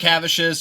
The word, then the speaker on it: Kupcikevicius: Kupcikevicius, you could say. It's the easiest.